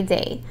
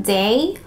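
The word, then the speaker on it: Dae: by the brand um day i think that's how you pronounce this d-a-e it's a heat protectant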